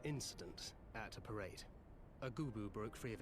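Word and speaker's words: Goobbue: there was an incident at a parade a goooo broke free of its Fetters and ran a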